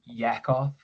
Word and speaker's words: Yakov: And then to finish on Yakov. Did I pronounce Yakov. Thanks, you said it right the first time.